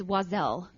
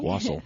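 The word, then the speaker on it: Oiselle: deaf leopard shirt up yes yes um it's wasel uh is how you pronounce it and it's it's a Christmas drink wasel wasel wasel o i s e l l e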